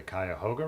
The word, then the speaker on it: Cuyahoga: me once she said how do you say the city you live in or like the river and I was like the Cuyahoga River Cuyahoga Falls and she goes is that really how you say it and I thought about it for a minute I'm like cowgirl Falls yeah we dropped like every syllable oh yeah River but